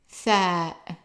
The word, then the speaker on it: ثاء: This one is like TH as in the number 3. So it's ثاء ثاء.